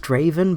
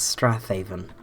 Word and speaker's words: Strathaven: down here we have Strathaven which apparently is pronounced straven but I refuse to believe that that's no and several more knows it's Strath hav come on it sounds so beautiful as Strath Haven anyway we're going to